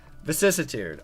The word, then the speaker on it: Vicissitude: Vicissitude. Okay, there we go. I know how to pronounce it now.